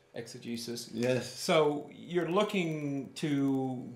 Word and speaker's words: exegesis: How do you pronounce it? Exegesis. Exegesis.